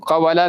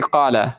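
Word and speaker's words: قال: The Arabs don't say it like this, right? The kawana, right, they say kana, which means, right, to be, or he was, right? Qawala, they say qala.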